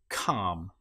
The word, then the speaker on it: calm: In this case, the L you will notice is not pronounced at all. Palm or calm.